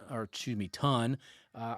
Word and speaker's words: tun: finish the u the tune or excuse me, ton. Uh I always want to say tune because it looks like tune to me, but it's ton pronounced ton.